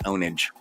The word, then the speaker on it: Owen and Age: of my new game, Owen and Age. Pronounced Ownage.